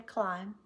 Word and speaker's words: climb: B the bomb burst sometimes it's silent the X means within a sentence there may be a b but it makes no sound no sound if it's a green one so the bomb no sound burst the lamb no sound can climb no sound when I read a